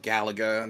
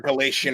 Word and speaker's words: Galaga: and dear to my heart you brought up Galaga not me not not galatian or Galaxy and however a lot of people